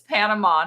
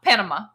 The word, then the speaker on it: Panama: It is Panama, not Panama. Sorry. No, that's not the way we pronounce it here. Nobody pronounces it that way here.